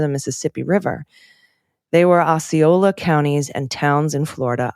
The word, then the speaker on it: Osceola: It's pronounced Osceola, not Ocella, Osceola.